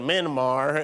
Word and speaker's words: Myanmar: Yeah, why what happened in Myanmar is pronounced like mini bar.